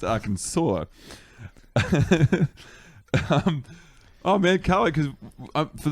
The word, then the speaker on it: Arkansas: It's actually, you know, it's spelled R Kansas, but it's pronounced Arkansas.